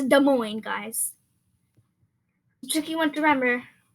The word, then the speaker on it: Des Moines: But the S is in both words is silent, so it's Des Moines. It's not Des Moines, it's Des Moines, guys.